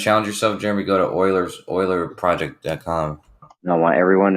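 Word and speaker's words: Euler: some weird thing about it you or something Oiler Oiler starts yeah what's it called Oiler starts with a e spell it e u l e r I think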